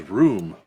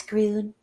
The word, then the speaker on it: Groon: Is it Groon, or I thought he said his name was Room? Groon. It's Groon. Oh, there was a G. It was a soft G.